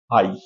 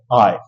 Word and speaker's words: I: जी हां ये है आई इस तरीके से हमें स्कूल में सिखाया गया जो कि इसका उच्चारण गलत होता है आज के बाद आप इसको आई उच्चारित नहीं करेंगे आप इसको उच्चारित करेंगे आय जी हां आय या